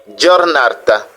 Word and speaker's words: giornata: Nous avons aussi notre consonne G, français, G, qui se prononce J devant E et I. Par exemple, buongiorno, bonjour, giornata, giornata, journée, giovane, jeune, gennaio, janvier.